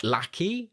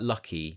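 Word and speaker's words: Lachy: Um probably now, now this is pronounced lack. Lackey. Yeah. But it sounds like lucky. Yes. Especially in a Australian accent cuz like for ages we thought his name was Lucky.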